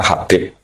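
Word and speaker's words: حبيب: Itu di harakatnya kitab itu ada yang nulis. Tapi yang benar Oh, nggih. Yang benar itu bacanya Habib. Habib itu sulami itu ikut marga Rabiah itu.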